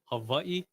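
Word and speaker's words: Hawaiʻi: the the if you if we want to kind of say the correct pronunciation of the state of havai that would be yeah and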